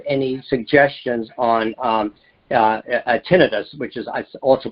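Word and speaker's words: tinnitus: do you have any suggestions on um uh tinidis which is also pronounced tinitis is the correct way to pronounce it. It's also called tenitis.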